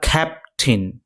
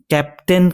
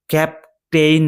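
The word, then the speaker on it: captain: তো এখানে যে ক্যাপটিন এটি কিন্তু ক্যাপটেইন নয় এটা উচ্চারণ হবে ক্যাপটিন আর কখন এই প্রার্থনাটা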